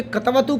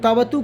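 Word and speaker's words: क्तवतु: कतवतु प्रत्यय जब लगाएंगे, इसको कुछ लोग कतवतु कहते हैं, कुछ लोग तवतु कहते हैं, कुछ लोग तवत कहते हैं, लेकिन ये मूल है तवतु प्रत्यय, आधा क साइलेंट रहता है, तवतु प्रत्यय।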